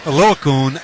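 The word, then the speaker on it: Oluokun: You you know how to pronounce the Yale kid better than I do. What is it? Alukun. Alakun is phenomenal.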